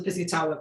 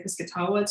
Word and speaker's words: Piscataway: shore, and also the Piscataway people who are also referred to as the Piscataway. I've heard both pronunciations. When I've heard Indigenous people say it, they say Piscataway to my knowledge.